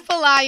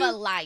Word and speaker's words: Flyana: It's Flyana. Yeah, I'm. Flyana. Yes, like you're flying.